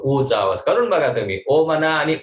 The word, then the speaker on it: ओम: ठीक, त्यामुळे ओमचा उच्चार करत असताना आता ओम मध्ये काय ओ एम नाही, इंग्लिश अल्फाबेट ओ आणि म असा उच्चार नाही करायचा. ओ आणि म, ओम असा उच्चारण नाही करायचा. अ उ आणि म, ओम, अ ओम, उचा उच्चार करताना बरेच जण ओ म्हणतात, तसं नाही.